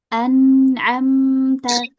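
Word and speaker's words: أنعمت: Anamta anamta ya dialirkan ya jangan sampai ada jedak sedikit pun.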